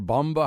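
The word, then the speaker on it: Bombe: Do you say bomb or bomba? How do you pronounce that last name? Bomba is used by some people, although some other people say bomb because it means, in a sense, bomb.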